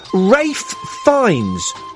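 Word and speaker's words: Ralph Fiennes: singen Stevens you'd have why what is that Rafe finds ra finds ra finds my fist in his face cuz his name is pronounced Ralph and it's finds not finds so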